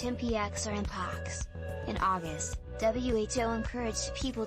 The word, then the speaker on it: mpox: Several months ago, the California Department of Public Health started referring to it as MPX, pronounced MPX or Mpox.